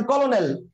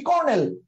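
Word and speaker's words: colonel: তিনটা আছে ডেফিনেটলি না কারণ কলোনেল যে বানানটা আপনি লিখেছেন সেটা আপনি উচ্চারণ করেন না কথা কি ক্লিয়ার সেটা আপনি উচ্চারণ করেন না আপনি বলেন কি কর্নেল so that means C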